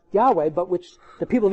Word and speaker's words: Yahweh: Lord, that stands for the tetragrammaton, which was pronounced Yahweh, but which the people of Israel didn't pronounce later in their history for reverence, which means He who is.